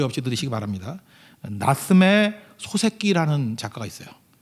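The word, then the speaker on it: 夏目漱石: 5 역시도 되시기 바랍니다 나쓰메 소세키 라는 작가가 있어요 소 새끼 말 듣기 도 아니고 소 새끼 인데 발음만 그래요 예 나쓰메 초 3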